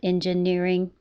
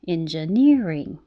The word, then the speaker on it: engineering: right now you're looking to find out which syllable should be higher and longer so it's not engineering it's engineering so remember to feel the rhythm of that